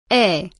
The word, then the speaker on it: 에: The preposition a is used for time words, and it's pronounced e.